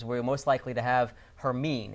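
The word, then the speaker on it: Hermine: pronunciation okay something is it's not Hermione it's her mean we've confirmed that with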